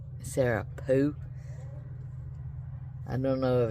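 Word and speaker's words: Pugh: Sarah, I want to say Pew, because P-U-G-H, right? But I'm not Welsh and can't say it correctly. Sarah Pooh.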